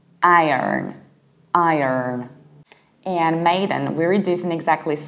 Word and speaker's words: maiden: And when it comes to maiden, we do the analogical thing. We don't say MAIDEN, we don't say den, because den is a separate word. We say maiden, maiden.